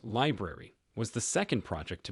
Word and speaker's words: LBRY: LBRI, pronounced library, was the second project to be axed.